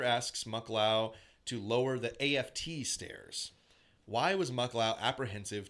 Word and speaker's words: aft: altitude requested Cooper asks muklao to lower the AFT stairs why was muklao apprehensive to open the stairs I think it's pronounced aft is it just upstairs yeah that's